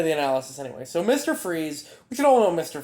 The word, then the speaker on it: Fries: But yeah, again, the famous story, Victor Fries, well, no, his name is Victor Freeze, it's spelled like fries.